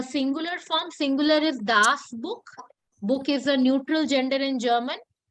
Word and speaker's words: Buch: So remember the pronunciation. When it's single, it takes the pronunciation of k, and when it's plural, it takes the pronunciation of sh.